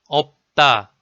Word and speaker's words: 없다: Number 6 is 비읍. The syllable 업, 업, 업 are all sounded as 업. There are some examples as like 업적, 업적, 없다, 없다.